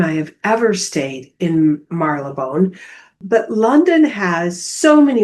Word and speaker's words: Marylebone: I call it Marylebone, but its actual pronunciation, according to the taxi drivers, is Marylebone.